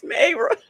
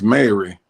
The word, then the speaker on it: Mayra: Miss Mayra. Miss Mary. Miss Mayra. Mayra. Not Mary.